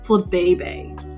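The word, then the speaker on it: Flabébé: Like, why is it literally pronounced Flabebe?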